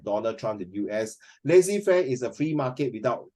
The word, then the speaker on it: laissez-faire: It's Laissez faire. pronounced as lazy fair. The lazy, not lazy, not L-A-Z-Y, it's lazy fair.